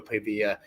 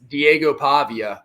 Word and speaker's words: Diego Pavia: over Co Mission Diego pavilla we God we are going to say his name right because that man has earned the respect Diego Pavia uh it's more like